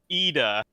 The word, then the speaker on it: Ida: to really enforce that it's pronounced Ida, as in like the letter E and then duh.